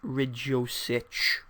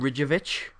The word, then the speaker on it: Ridjosic: of last season was Stefan Ridjosic. Yes, I said it right. I just call him Ridjovic because that's easier and it flows, and I can't put an S in the middle of it.